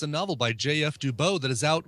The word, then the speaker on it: Dubeau: Every time you hear JF Dubow, you know it's spelled JFDUBEAU.